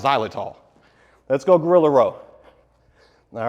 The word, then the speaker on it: xylitol: I'll put a link to the names down below, but it's pronounced xylitol.